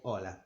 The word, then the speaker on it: hola: The H is always mute. We don't pronounce it at all. It's called H, as in the word hello, hola. We just say hola.